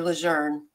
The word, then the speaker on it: Lejeune: but it's in it's Camp Lejeune uh now or Lejeune the proper way to say it uh uh but he